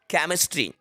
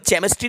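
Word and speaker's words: chemistry: यदि किसी वर्ड में सी के बाद एच आया हो तब सी का प्रोनाउंसिएशन या तो का होता है या फिर चा होता है। कहीं कहीं सी का प्रोनाउंसिएशन का होता है और कहीं कहीं सी का प्रोनाउंसिएशन चा होता है। ठीक है, सी के बाद अगर एच आता है तो जानते हैं इसके कुछ एग्जाम्पल्स। For example केमिस्ट्री। अब इसको केमिस्ट्री नहीं, इसको केमिस्ट्री ही पढ़ा जाता है।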